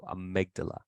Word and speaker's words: amygdala: that amygdala sometimes uh if you have trouble pronouncing words with a Y in it just change the Y to I okay so amygdala a reflex that involves